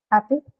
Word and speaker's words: happy: Disyllabic adjectives are stressed on the first syllable, right?